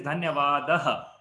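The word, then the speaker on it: धन्यवादः: So in Hindi it is dhanyavada. Here it is dhanyavadaha. There is a aha sound at the end, so we can use that as part of it.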